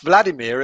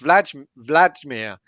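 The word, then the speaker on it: Vladimír: Because apparently it's not pronounced Vladimir, it's pronounced Vladimir. So there's a J in there somewhere.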